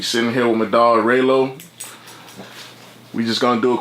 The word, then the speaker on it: Raylo: Raylo, spell it right. Don't be like Boosie. It's not Rollo. Boosie stays fucking my name up.